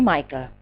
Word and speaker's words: Michael: So it should be Michael, pronounced like Michael Jackson, whom I still liked at that time.